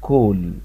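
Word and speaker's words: call: لكن حرف الايه لما يجي وراه دبل ال يعني ال وال يتنطق حرف او، فالكلمة دي اسمها كول، كول.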